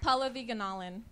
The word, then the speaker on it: Pallavi Gunalan: How do you pronounce your name? Pallavi Ganalan.